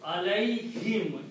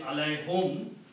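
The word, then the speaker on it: عَلَيْهِمْ: And because the word is now pronounced alay, not ala anymore, alay. Okay? And to match this sound in tajweed, we also pronounce this as kasra. So alayhim, easy to pronounce instead of saying alayhum.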